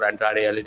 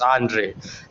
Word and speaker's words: Andrade: so difficult yeah even tony shawwani also gets uh the name wrong for andrade you know he says andre and another black mass